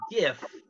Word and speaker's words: GIF: that it is pronounced gif with a hard g like grape he comes out and